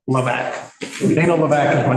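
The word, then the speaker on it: Hlavac: part of my name the harder part is HL a v a c don't even try to pronounce it just remember got your back laac Dan laac is my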